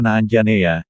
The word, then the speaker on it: Anjaneya: Wanara sebagai Putra Anjani Hanoman dipanggil anjaneya diucapkan anjaneya secara harfiah berarti lahir dari